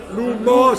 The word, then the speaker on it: Lumos: Ragazzi, state attenti con la pronuncia. Tutto attaccato l'humus. Lumos.